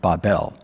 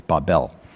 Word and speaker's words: Babel: this many times in the hebrews it's actually pronounced babel in the english we say babel but it's babel and it means confusion to confuse but the